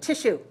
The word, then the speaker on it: tissue: Okay, let's look at the number 15 is tissue. Tissue. Okay, tis.sue. Please notice that this is pronounced like sh, tish, tish, tissue, tissue 2-1.